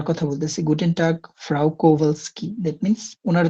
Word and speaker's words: Kowalski: ফ্রাউ কোভালস্কি। এই যে ডব্লিউর উচ্চারণটা Frau আপনারা জানেন, এটা Kowalski. বিয়ের মতো উচ্চারণটা হয়, কোভালস্কি।